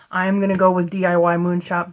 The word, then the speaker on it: DIY Moon Shop: ordered some paintings from DIY Moon shop or D Moon shop depending on how you pronounce it I'm going to go with DIY Moon shop because it is more uh natural for me so apologies to uh